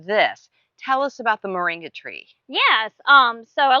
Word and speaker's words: Moringa: cam and we today are talking about a moringa tree did I pronounce it correctly yes Moringa Moringa yes and